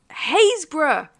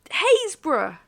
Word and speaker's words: Happisburgh: Haysborough. Haysborough. Yeah. Said Haysborough, still the best one to pronounce.